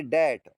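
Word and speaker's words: debt: यहां पर देखो डेप्ट नहीं पढ़ेंगे। इसको पढ़ेंगे डेट।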